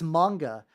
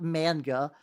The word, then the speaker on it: manga: It's like, I must use correct Japanese pronunciations, but I also it's manga, not manga. But also I say anime, which it's supposed to be anime. It's I'm fucked.